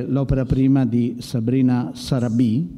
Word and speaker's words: Sarabi: Il film è Prelude, è in concorso ed è l'opera prima di Sabrina Sarabi, credo che l'accento sia corretto, spero. Sarabi, quindi l'ho detto giusto, proprio che Sabrina è